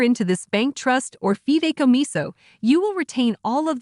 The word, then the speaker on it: fideicomiso: This term is pronounced Fideicomiso or Fideicomiso.